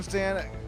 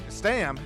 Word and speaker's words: Stam: My name is Sean Stan Stam. Excuse I own last name wrong. Anyways, Sean Stam, Warren Johnson, co- commentating with me here tonight.